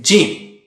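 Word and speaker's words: ج: line at the top how do you say gym use the middle of the tongue and touch it to the pallets or roof of the mouth don't touch the edge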